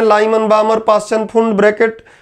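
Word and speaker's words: Bohr: बोहर या बोर जो भी बोले, रियल में बोर उसका नाम है, हिंदी में प्रोनाउंसिएशन बिगाड़ देते हैं लोग, बोहर बोलने लगते हैं।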